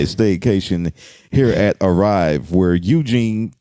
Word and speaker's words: Eugene: Speaking of hearing things, I remember one time I had a staycation here at Arrive where Eugene, because it rhymes with Blue Jean, will park your car for you.